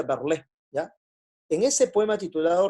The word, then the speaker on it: Verlaine: Se escribe Verlaine, se pronuncia Verlé, ¿ya?